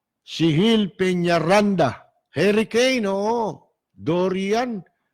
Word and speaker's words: Dorian: Dorian. Parang Dorin ang ano nila eh. Ang pronunciation nila, Dorin eh.